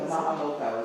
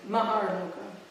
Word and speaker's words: Maharloka: The Mahaloka was. Maharloka. Maharloka. How do you spell that? M-A-H-A-R. It's not Mahaloka. No, M-A-H-A-R. Okay, L-O-K-A. Maharloka.